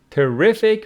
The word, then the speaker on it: terrific: of that was terrific terrific with the stress on the second syllable meaning very good terrible